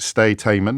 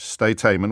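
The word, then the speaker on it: Sde Teiman: I can tell you that the place where this torture took place was, and I'll probably mispronounce it, Stay-Taiman. It's two words, S-D-E, new word T-E-I-M-A-N.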